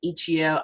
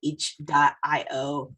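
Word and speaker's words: itch.io: ichio bundles that's right i pronounce it ichio i do not care if you pronounce it each dot io okay fight me about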